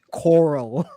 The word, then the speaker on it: Carl: Coral. It's Carl. but he pronounced it Coral.